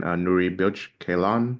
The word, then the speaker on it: Nuri Bilge Ceylan: There's this man Nuri Bilge Ceylan. I hope I pronounced his name Nuri correctly.